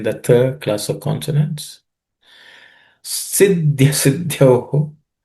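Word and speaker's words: सिद्ध्य: Siddhya siddhyoho. So here, siddhya, this idhya has, there are three letters actually. Id, and ya. The middle is the fourth letter, so it has to be aspirated.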